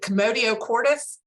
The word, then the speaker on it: Commotio cordis: Is it Commotio cordis? That's correct.